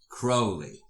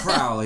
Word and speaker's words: Crowley: Crowley. Man, rhymes with holy. Rhymes with holy. Not Crowley, that's Fowley.